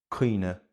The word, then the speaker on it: cuimhne: IMH or IBH when within a word in Munster will often be pronounced as a long e sound. So, that is the reason why where other dialects have cuimhne and díbhinn and Corca Dhuibhne in Munster, these words are pronounced cuinne memory í for eggs and Corca